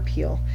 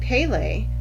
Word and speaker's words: Pele: No, did I call her Peel? Pele, the Hawaiian goddess of volcanoes.